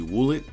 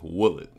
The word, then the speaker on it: Woolet: So that has been my review of the WOOLET.